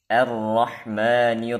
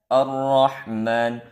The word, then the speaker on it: الرحمن: Sehingga terbacalah Ar-Rahman, seharusnya hamzah wasal tipis, ra tebal, jangan was-shawab tarqiqu hamzah wa tafkhimur ra al-maftuhati bimaharah.